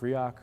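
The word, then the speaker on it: Riak: love coming to these things so much it's pronounced riok although the joke is if you use it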